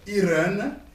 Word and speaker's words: Hirn: Et voilà, je suis dans le sobriquet, je m'appelle Irène. C'est comme le nom d'une femme. Hein? Irène. Je vais expliquer ça en détail comme quoi. Irène, ça s'écrit avec H, I, R et N à la fin.